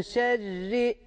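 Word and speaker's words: شر: ince okunacak kalın okunmayacak min şerri şerri derken de şeddeyi belli etmemiz gerekiyor min şerri şerri diye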